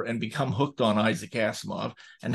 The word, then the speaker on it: Asimov: I came across Asimov when I was a child. I remember I couldn't even pronounce his name. It was Asiminov, my childish tongue.